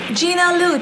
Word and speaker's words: Gina Liu: So in case you thought I was mispronouncing it, check it with her, because I checked with Gina before I pronounced her name.